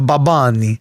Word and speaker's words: Bad Bunny: Say it like you're supposed to. A Babani. A Bad Bunny.